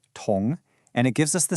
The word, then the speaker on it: 同: The very first one is pronounced tong, and it gives us the sense of together or the same.